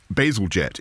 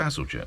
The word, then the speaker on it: Bazalgette: And Bazalgette in the 19th century was visionary, because he saw that London would grow, and when he everybody knows this.